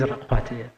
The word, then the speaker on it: Rakgoathe: Did I pronounce it correctly? It is Rakgoathe.